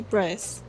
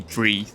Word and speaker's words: breathe: on some pronunciations today we are focusing on the words breath and breathe one is a noun and the other is a verb so first up we